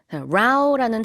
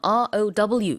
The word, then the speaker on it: row: row라는 단어, R-O-W 이렇게 쓰고요. 발음은 반드시 row라고 하셔야 됩니다. row라고 하면 안 돼요. row는 노를 저을 때, row, row, row your boat 할 때 쓰는 전혀 다른 뜻입니다.